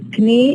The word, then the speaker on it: knee: In words like knee, rukba, night, and knowledge, the ka is written as a letter, but it's not produced. It's not produced because when you say knee, it's not allowed to produce a stop followed by fricative in English, but it's allowed in German.